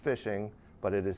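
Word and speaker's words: phishing: your information is a technique called fishing it's pronounced fishing but it is spelled with a pH at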